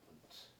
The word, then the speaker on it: Wundt: 그 이제 발음이 좀 그래요. WUNDT예요. 이렇게 써요. 분트. 우리말로는 분트라고 이렇게 하면 거예요.